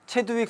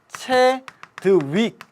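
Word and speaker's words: 채드윅: 발견했죠 중성자 발견 예 최두익 선생님이죠 체 한번 또 합니다 최두 익이 아니고요 체드윅 제 발음 안 좋아 갖고 자꾸 헷갈리면 안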